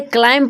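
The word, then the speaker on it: climb: मतलब होता है वक्ष देखिए इसे क्लाइम पढ़ेंगे क्लाइम नहीं पढ़ेंगे क्योंकि यहां बी साइलेंट है जब दो वर्ब एक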